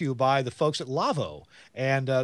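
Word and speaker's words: LAWO: It's a German company, so pronounce it Lavo, but it's L-A-W-O.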